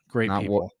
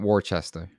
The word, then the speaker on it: Worcester: of Worcester yeah yeah Great Wall not warchester yeah I had to